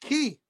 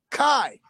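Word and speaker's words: qi: Because if you was really there, you would know it's pronounced Ki. Yep. Q-I, Ki. Not Kai.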